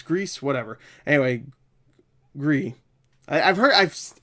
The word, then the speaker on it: Gris: it's grease whatever anyway gree I've heard I just I've heard it more times pronounced gree than Gris or cry or whatever I'm gonna say gris-gris